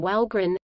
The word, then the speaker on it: Wahlgren: In the 1790s, Charles's great-great-great-grandfather, Sven Olofsson, adopted the surname Walgren, Swedish pronunciation, V-L-G-R-E-N, during his military service, a family fact passed down over the generations.